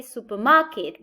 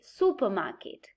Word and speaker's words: supermarket: stress in ma but when we add super as a prefix the main stress is moved to the first syllable so we do not say supermarket but we say supermarket star but we say